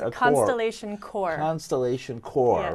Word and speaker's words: Constellation Chor: Constellation Chor, yes. Right? CHOR, right. not CORPS, right?